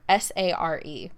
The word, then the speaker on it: Sare: Or no, she said Sare, S-A-R-E. My grandma called me Sare, rhymes with yeah.